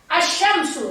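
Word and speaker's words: الشمس: Asyamsu. Lihat. Asyamsu. Asyamsu. Tidak pernah orang baca al-syamsu. Tidak pernah. Alif lamnya dihilangkan. Langsung masuk ke huruf setelah alif lam.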